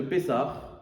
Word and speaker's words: Pessah: Déjà vous savez que la fête de vous savez que la fête de pessar paressar c'est deux mots quand on prononce c'est p et sar.